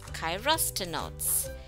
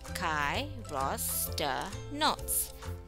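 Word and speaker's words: Chirostenotes: Let's pronounce Chirostenots. Chirostenots.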